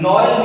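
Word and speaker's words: Noël: Here also no L, no L, no L, no, because it's a word now, so you cannot say no and after 2 minutes L. You have to pronounce it as a word.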